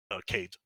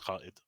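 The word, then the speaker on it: Kaid: my favorite operators to play on defense is Cade. Mm-hmm. Properly pronounced Khaid, but he has I play him a lot.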